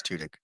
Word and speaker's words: Tudyk: It's Tudyk. He's two wonderful. He's wonderful. Two dicks.